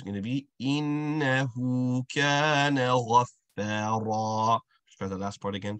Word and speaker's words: غَفَّارًا: The first point is that our fa has a connect and hold. So we want to ensure that its sound is being connected to the line. So غَفَّا, connect, hold it. Then you complete the stretch associated with it.